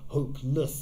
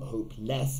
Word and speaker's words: hopeless: an adjective again and less or less in terms of pronunciation when we put it hopeless it's not hope less it's hopeless it goes over here